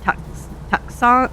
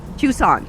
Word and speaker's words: Tucson: Ah, somebody told me how to pronounce that. Tuxon. No. Tucson. Tucson.